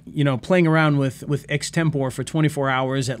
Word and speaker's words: Extempore: Extempore. All right, perfect. I always wonder if it's like, you know, Extempore or something weird like that. But no, Extempore.